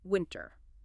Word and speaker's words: winter: This is another word where the t is often cut out or dramatically reduced in casual speech when it follows an n. So winter very often sounds much more like winner as in the opposite of loser than winter. This is just like how internet can become internet. If you emphasize the t strongly here, it will sound less natural in conversation.